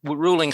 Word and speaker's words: Ruhling: type in my name last name is ruling spelled with an h r u h l